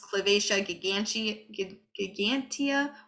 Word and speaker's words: Calvatia gigantea: So I think the Latin is pronounced Calvatia gigantea or gigante, depending.